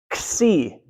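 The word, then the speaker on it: xi: often in English, but it's the sound that X makes in axe. Okay. So you actually take a K and an S and you stick them together. Axe. Okay. So ks, ksi. Try that. Ksi. Good, yeah. So you have the k and the s together.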